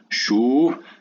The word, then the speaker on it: chaud: Chaud. Est-ce que سمعتوا le D? Non. C'est muet, le D. Chaud, chaude.